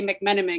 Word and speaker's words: McMenamin: and having Kate Winslet be able to say McManaman because that was the last name of the